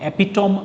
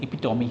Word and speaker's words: epitome: इसको आप epitome मत पढ़िएगा, इसका प्रोनाउंसिएशन epitome है।